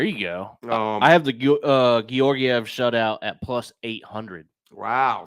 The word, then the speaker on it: Georgiev: Georgiev, yeah.